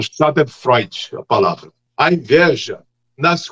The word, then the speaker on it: Schadenfreude: Schadenfreude, a pronúncia.